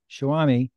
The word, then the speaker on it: Showami: to be here now I I'm going to mispronounce it shawami how did it start where does the name